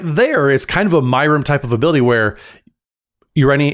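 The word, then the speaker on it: Myrel: And just a note, it it it yes, it's pronounced Myrum. I don't know why I pronounce it like it's the fifth member of the Golden Girls cast, but I do. I for some reason I mentally default to that. It is Myrum.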